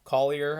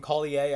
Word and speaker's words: Collier: train on the show calling him kali a i don't know why we do so many damn countries and pronunciations of names i messed that one up so jake collier taking